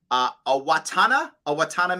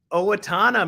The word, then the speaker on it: Owatonna: So Sarah says, hello from, I'll say it right, Owatonna, Minnesota. Owatonna, Minnesota.